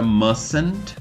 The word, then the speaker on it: mustn't: O must, que vira mustn't. Podem perceber que o T também virou silent letter, na forma negativa.